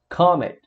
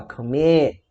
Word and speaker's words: commit: O verbo commit, a mesma regra, a gente não fala commit, a gente fala commit, né? Então a CVC, a sílaba CVC é a mais forte.